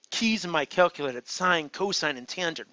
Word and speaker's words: sine: ratios sine it's pronounced sine I know on your calculator it looks like sin SI n but there's nothing biblical about it okay cosine Coast and